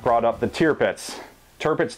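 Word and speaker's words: Tirpitz: not brought up the tiar pits tarpits tier pits I've heard both ways I think that actual pronunciation is tier pits so we'll go with that tier pits in my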